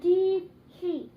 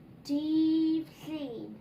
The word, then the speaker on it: Dydd Llun: So then, hyn, yr un goch yn dydd Llun. Monday. Dydd Llun. Okay? Now then, that's how to spell it, okay?